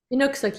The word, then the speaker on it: Innuksuk: So do you pronounce her name Nyla Innuksuk? Innuksuk, yeah. Okay, that was close.